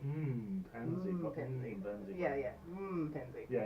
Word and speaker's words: M'Penzi: How do you pronounce? M'Penzi. M'Penzi.